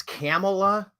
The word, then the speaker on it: Kamala: know and when did Kamala know it it's camela I have to really change the pronunciation I guess it's accurate to call camela that's Cala I've been calling her Camala forever how much did she know and when